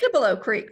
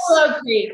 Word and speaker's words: Cibolo Creek: Cibolo Creek. Very good. Yes. Cibolo Creek.